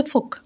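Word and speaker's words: folk: known ask ফোক music এটা ফোল্ক না এখানে হবে ফোক এল এর উচ্চারণটা উজ্জ্ব থাকবে পিপলস মিউজিক জনগণের সংগীত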